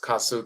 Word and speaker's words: kasu: There's a term called kasu is pronounced kasu.